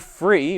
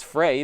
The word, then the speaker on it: Fre: a look at the LifeProof free or perhaps Frey depending on how you want to pronounce it uh this is a